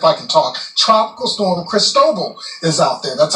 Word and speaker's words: Cristobal: Tracking the tropics, here's tropical, if I can talk, tropical storm Cristobal is out there. That's how you pronounce that one.